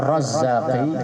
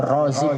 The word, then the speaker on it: Razik: Kalau roknya panjang, Razik, isim fa'il.